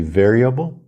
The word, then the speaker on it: variable: que na pronúncia de variable ou a força tônica é na primeira sílaba variable Vamos começar com